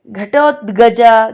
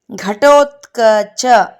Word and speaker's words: ಘಟೋತ್ಕಚ: ಅವನೇ ಘಟೋತ್ಕಚ ಮಹಾವೀರನಾಗಿ ಬೆಳೆದ ಘಟೋತ್ಕಚ ಘಟೋತ್ಗಜ ಘಟೋತ್ಕಜ ಅಂತ ಹೇಳ್ತೀವಿ ಸುಮಾರಾಗಿ ಆದರೆ ಇವನ ನಿಜವಾದ ಹೆಸರು ಉಚ್ಚಾರಣೆ ಘಟೋತ್ಕಚ ಅಂತ ಹೇಳಿ ಈ ಘಟೋತ್ಕಚ ಮುಂದೆ ಮಹಾಭಾರತದ